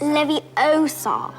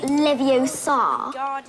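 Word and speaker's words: Leviosa: I can totally relate you're saying it wrong it's Levi Oar not Levar you do it then if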